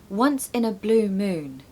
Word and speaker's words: once in a blue moon: sounds nice pronunciation tip make sure to stress blue and moon okay once in a blue moon Blue Moon it's quite a bit louder okay we so gonna